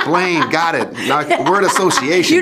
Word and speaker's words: Blaine: rock star looking guy rhymes with brain brain Blaine got it word association